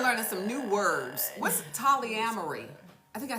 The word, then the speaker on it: Tolyamory: What's Tolyamory? I think I said it right. I can tell you it rhymes with foolery.